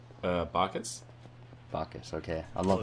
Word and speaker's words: Bacchus: Bacchus, okay.